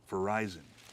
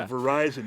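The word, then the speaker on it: véraison: change and it's called verizon it's a french word has nothing to do with the phone company but it's called verizon it's spelled differently too but uh so the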